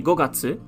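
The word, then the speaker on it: 五月: followed by the kanji for moon would be gokatsu in this case as in the fifth month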